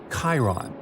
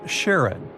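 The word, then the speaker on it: Charon: And finally, while standing on Pluto, you would see its five moons, Stixs, Nyx, Keraros, Hydra, and the most mysterious one, Chiron, also pronounced Sharon.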